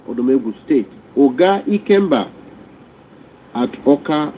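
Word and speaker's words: Awka: Oga Ikemba at Oka, not Okwa, at Oka, not Okwa as it is spelled, and then Odomegu State.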